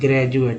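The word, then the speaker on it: graduate: तो डी को यहाँ पर ज उच्चारण करते हैं, ना कि ग्रेजुएशन, ग्रेजुएशन ना कि द या द।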